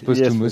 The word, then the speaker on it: Posthumus: Yes, Posthumus, ça se prononce.